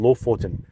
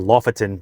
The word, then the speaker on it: Lofoten: a little place called Lofoten. Lofoten links, or Lofoten for the phonetically speaking English folk, right?